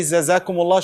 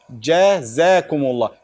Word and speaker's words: jazakumullah: Shouldn't be zazakumullah, should be jazakumullah. Jazakum. Why? Because the Jim comes from where? From the middle of the tongue.